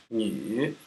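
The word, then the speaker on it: 女: This is a woman, pronounced Ni.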